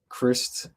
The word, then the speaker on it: Crist: Anyway, I mean, Charlie Crist spelled like Christ, but pronounced like Chris Christ, Christie, yeah.